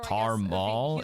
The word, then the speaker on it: caramel: to a T or Carmel is how we pronounce caramel down here.